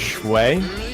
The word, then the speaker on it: Shui: Okay, I've been informed that it's pronounced Shui, as in Shui.